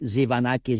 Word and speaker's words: Tzivanakis: didn't in practice right the t is silent zanak is you did very well